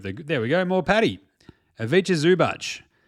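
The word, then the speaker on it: Ivica Zubac: Aviche Zubach. Pronounced Avicha Zubach.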